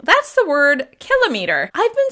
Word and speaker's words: kilometer: I've been saying kilometer and I thought that was the correct pronunciation until I did a little research. So you should be pronouncing the word kilometer, and that's going to